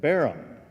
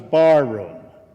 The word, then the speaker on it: Barham: And then he said, how do you pronounce the name? And I said, Barham. And then he says, I thought it was barroom.